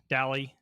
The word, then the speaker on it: DALI: DALI? You are pronouncing it right.